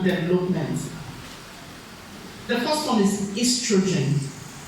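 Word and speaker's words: oestrogen: It's just the American spelling is the British spelling is O-E. But it's pronounced estrogen.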